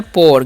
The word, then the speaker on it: pour: उसी तरह से POUR है तो इसमें पाउड नहीं पढ़ना है, पढ़ना है पोर।